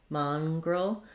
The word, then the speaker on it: mongrel: So first syllable stress, letter O says mongrel. This letter N says a NG sound, mongrel. And then the G, roll, I'd say that's a schwa. Almost no vowel there, mongrel.